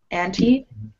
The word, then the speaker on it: antibiotics: So again, there's this rule where that second T, it's surrounded by vowels, so it's pronounced like a D. Antibiotics.